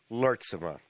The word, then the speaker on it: Lurtsema: We are about to have a conversation with a young millennial entrepreneur from Anchorage, Alaska, by the name of Joseph Lurtsema. Am I pronouncing that correctly, Joseph?